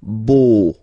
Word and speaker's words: beau: So remember this a, u combination of vowels only give you the sound o, beau, okay?